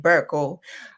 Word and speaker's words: Berko: Um I think the Ghanaian pronounce it Burl.